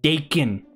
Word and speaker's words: Dakin: He mispronounced my last name. It's pronounced Dakin.